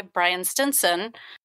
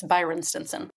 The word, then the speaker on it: Byron Stinson: So, you know, because of this belief, this guy Brian Stinson, I'm sorry, I'm saying his name wrong. It's Byron Stinson.